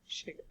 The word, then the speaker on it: Shiga: It's spelled SCHIGA. Shiga.